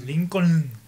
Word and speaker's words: Lincoln: Sí, que incluso aquí luego nadie lo sabe pronunciar. ¿A qué calle vas? ¿A Lincoln? Lincoln. Es Lincoln.